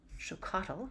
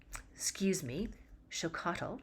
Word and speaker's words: Xocolatl: It was called Xocotl, right? It's spelled chocolat. Xocotl, right? So it sounds like chocolate, but it's spelled Xocolatl, chocolatl.